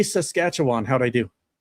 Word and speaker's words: Saskatchewan: Hey Josh, say say Saskatchewan. How'd I do? Saskatchewan. Yeah. How' I do? Saskatchewan.